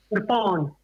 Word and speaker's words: kirpan: That's a kirpan. Yeah. Kirpan. Kafan, right. Yeah. Kirpan.